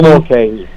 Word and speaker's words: McKay: Can you pronounce McKay? Neil McKay.